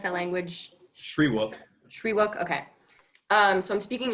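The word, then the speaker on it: Shyriiwook: Okay, so I would like to address the Wookiees and how do you pronounce that language? Shriwook.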